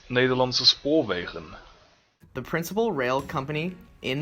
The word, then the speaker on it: Nederlandse Spoorwegen: Hi, I'm Nederlandse Spoorwegen, Actually, it's pronounced Nederlandse Spoorwegen.